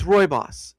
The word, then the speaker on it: rooibos: So it's rooibos is how it's said.